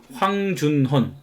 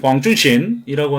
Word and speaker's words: 황준헌: 이 조선 책략은 일본에 와 있던 청나라 외교관 황준헌, 중국 발음으로 황준신이라고 하는 사람이 쓴 책인데, 이 책을 이제 갖고 들어와서 고종에게 바치고, 고종이 이제 이걸 읽어보니까 굉장히 이제 좋은 내용이다.